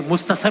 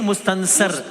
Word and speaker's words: मुस्तनसर: ना ना ना ना ना, नून तो आपने मिस कर दिया भाई मुस्तसर नहीं मुस्तनसर।